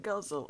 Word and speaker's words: ghazal: guzzle it's spelled G H AZ al it's pronounced guzzle as in Gaza all that drink right now